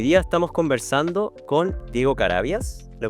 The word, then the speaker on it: Carabias: de antofagasta hoy día estamos conversando con Diego carabias lo pronuncio bien Perfecto perfecto Cómo estás Diego mu